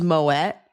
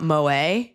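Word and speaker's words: Moët: I Marriott does feel weird just like how it's not Merlot, it's Merllo, but it is Moette and not Moa.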